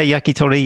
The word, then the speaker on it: yakitori: corporations his favorite type of japanese food is yakitori i hope i'm pronouncing it well welcome john very good japanese yeah it's good yeah yakitori yeah that's right yeah yeah cool what is